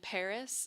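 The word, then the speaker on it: PVRIS: There's a more rock band called Paris spelled P V R I S.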